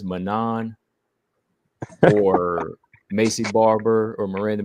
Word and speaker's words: Manon: It's also Manon, not Manon. It's Manon. Yeah, the French accent.